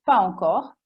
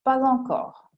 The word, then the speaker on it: pas encore: Per esempio, non ancora si può dire pas encore e più elegantemente si dirà pas encore. Corrette entrambe le forme, ma anche si può dire mais aussi oppure mais aussi, che personalmente preferisco.